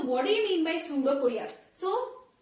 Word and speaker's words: pseudopodia: So amoeba is having a appendage, that is pseudopodia. So what do you mean by pseudopodia? So here P is silent. So you need not to pronounce the P, but when you write the spelling you need to add P here.